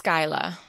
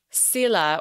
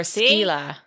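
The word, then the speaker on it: Scuilla: How do you pronounce the S-C-U-I-L-L-A? I think it's Skyla. Skyla? Okay. Do you want me to check it? My dog is snorting at the door. She's like, I'm not allowed in. Let's go real quick. Pronunciation. Oh. You're totally right. It's wrong. I'm wrong. Sila or Skyla. Skyla. Okay. Depending on what country you live in.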